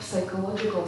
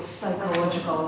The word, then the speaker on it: psychological: yeah I agree and also not psychological psychological we do not pronounce P letter yeah yeah kind of